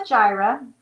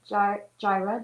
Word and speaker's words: Jireh: anyway it's called jehovah gyra and jira in case you don't know is spelled j i r e h gyra jehovah gyra and it's